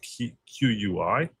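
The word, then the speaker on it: qui tam: This is a Latin phrase key spelled Q UI. So some pronounce it qui but the proper pronunciation is likely key Tom tam key tam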